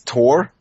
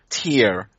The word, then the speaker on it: Thor: yeah without age uh so for how we pronounce it this T oh okay yeah it's like uh uh I I play some Smite as well and they have t there and uh all the Americans pronounce him you know tear no it's not like a tear falling down your Chic it's tear